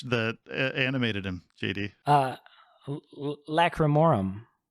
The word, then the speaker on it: Lacrimarum: animated him jd uh lacremorum did i say it correctly yeah i mean lacrimarum like romarum yeah hell yeah so